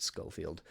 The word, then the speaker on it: Schofield: skolfield from now on it's not pronounced that way it's just scoffield but I'm going to